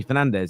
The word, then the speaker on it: Fernandes: It's actually in Portuguese, it's Bruno Fernandes. But he has said, I don't mind it. It's fine to call me Fernandez.